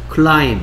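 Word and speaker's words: climb: 클라임. 아, 클라임. 클라임. 클라임. 비가 소리 안 납니다.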